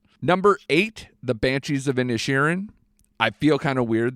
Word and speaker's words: Inisherin: Number four is is The Banshees of I you pronounce the last name. Inisherin, yeah.